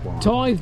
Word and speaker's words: tithe: It's a tithe barn. It's not a tid barn.